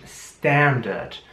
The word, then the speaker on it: standard: Also im britischen Englisch Standard. Im amerikanischen Englisch mehr Standard, also wieder wie ein mit einem Ä am Anfang, Standard. Aber im britischen Standard.